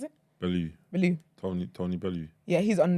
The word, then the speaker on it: Bellew: How'd you pronounce it? Bellew.